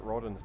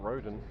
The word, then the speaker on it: Rodden: Or if I make one mistake with Matt Rodden's name and his mother texts him to tell me, yeah, they've got your name wrong. It's Rodden, not Roden.